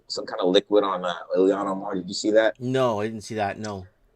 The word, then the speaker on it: Ilhan Omar: I know who Ilhan Omar.